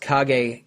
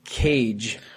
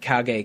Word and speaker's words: kage: And they had sent over scripts for voiceover when they were making Daikatana, and the studio that was recording all the voiceover pronounced kage cage for every line of dialogue.